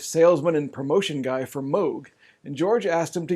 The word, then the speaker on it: Moog: pieces played on a moog synthesizer although george only plays on one of them so about this mysterious synthesizer the moog was developed by robert moog everyone pronounces it moog but he himself prefers moog so that's what